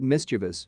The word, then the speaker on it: mischievous: my sentence was her mischievous mischievous smile the teacher stopped me said mischievous miss chavez then told me to